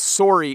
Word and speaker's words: sorry: is the word sorry when we pronounce sorry it actually rhymes a little bit with the word sore the other day i